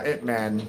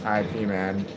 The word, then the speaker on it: Ip Man: And we're talking about IP uh itman. Am I saying that right? It was actually pronounced IP man. I was assuming it was it man.